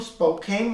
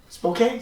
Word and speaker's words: Spokane: in a prime Ali signed Eli S from Spokane Washington Spokane Spokane Spokane I said Spokane forget about it